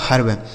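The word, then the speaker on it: herb: एच ई आर बी, तो एच से हो गया दोस्तों हाँ, इस ई का उच्चारण अ हो गया, आर से र और बी से ब, यह लिखा गया आपका हर्ब। एच ई आर वी हर्ब हो गया।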